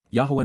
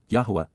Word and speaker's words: Yahweh: humanity indeed because KY Yahweh Yahweh the proper pronunciation of the name of eloah God as directed in his